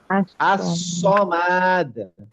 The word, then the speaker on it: الصمد: ওই একই সি এর উচ্চারণটা, মুখটা গোল হয়ে যাবে, স। আসমাদ, আমরা সমাদ শিখছি তাই না? as-সমাদ, الصمد মুসিবাতিন।